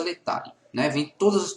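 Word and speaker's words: Laetare: O domingo da Gaudete e o domingo Letare, que se escreve lá, Etare, a pronúncia Letare, né?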